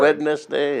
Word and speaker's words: Wednesday: Wednesday, yeah. What's wrong with W-E-N-N-S-D-A-Y? Phonetically, that would be correct. But W-E-D-N-E-S-D-A-Y, how the hell do you get Wednesday out of that? It must be a silent D.